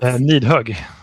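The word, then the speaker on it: Nidhogg: Nidhög. Nidhög. Nidhög. Yeah, that's exactly correct. Like need a hug.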